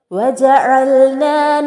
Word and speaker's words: وجعلنا: വജഅൽനാ, ഇവിടെയും ഐനിന്റെ ഉച്ചാരണം പ്രത്യേകം ശ്രദ്ധിക്കണം. വജഅൽനാ എന്ന് നൂനിന് ഫത്ഹ അലിഫ് മദ്ദാണ്. പക്ഷേ നമ്മൾ അവിടെ ചേർത്ത് ഓതുന്ന സമയത്ത് വജഅൽനൽ ലൈല എന്നാണ് ഓതുന്നത്. അതായത് ന എന്നുള്ളതിലെ അലിഫ് മദ് നഷ്ടപ്പെടുന്നു. വജഅൽന എന്നായി മാറുന്നു.